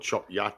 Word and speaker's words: Chop Gate: Chopgate. No. Chop Yacht. We call it Chop Yacht, people. The locals call it Chop Yacht, but the name of the village is actually Chop Gate.